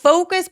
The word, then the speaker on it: focus: Focus 발음할 때 이거 욕처럼 들리시는 분들 계세요. 이거 발음할 때 포커스 하면 안 돼요. 포커스 하지 말고 focus. Focus 그래서 입술 쭉 내미는 거 중요해요.